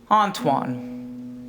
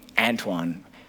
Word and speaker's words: Antoine: name by the way Antoine very French my um my brother's the only other person who actually pronounced it correctly so thanks if my parents call me Antoine which is like close enough I guess and even like my friends call me Anton someone just like doesn't